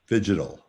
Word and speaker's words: phygital: marketing geniuses are calling phygital. That's phygital spelled like fishing, P-H-Y-G-I-T-A-L, phygital, the combination of physical presence and digital.